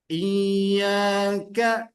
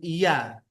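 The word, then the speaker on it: إِيَّاكَ: Iyyaka, iya, iya. Pas. Bukan iya.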